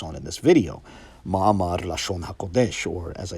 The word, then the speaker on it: Lashon HaKodesh: relevant to the topic, in a more Yiddish pronunciation, or at least maybe an Eastern Yiddish dialect, it's pronounced Ma'amar Lashon HaKodesh. And pronunciation, as I just alluded to, will have some relevance here. But however one pronounces it, whether you say Lashon HaKodesh or Loshn Koydesh, the title means treatise